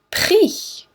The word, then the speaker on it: prix: Single I says I, like oui. Prix.